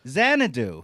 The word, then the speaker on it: Xanadu: speaking of number two Xanadu rhymes with two yeah genre do I'm